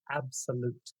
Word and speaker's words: abxylute: And yes, that's how you say it. ABXYLUTE is Absolute.